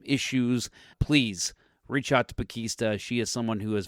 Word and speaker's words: Pakesta: Okay, so you said it's pronounced Pakesta. Pakesta. Right? I know. A package at Easter.